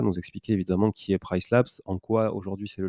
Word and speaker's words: PriceLabs: de Price Labs, pardon, il y a un S, il faut bien le prononcer, Price Labs, qui est un outil